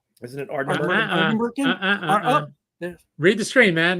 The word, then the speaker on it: Ardnamurchan: Can we emphasize the Ardnamurchan. con at the end, like Shatner? Con.